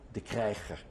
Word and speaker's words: De Kryger: How is your name pronounced at home? De Kryger.